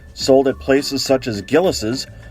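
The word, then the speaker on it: Gilles: Frozen custard, sold at places such as Gillis's, or as I was taught to pronounce it as a kid, Gillies, is similar to ice cream, but made with eggs in addition to cream and sugar.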